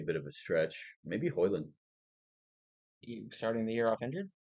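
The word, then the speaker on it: Højlund: Maybe Hoyland.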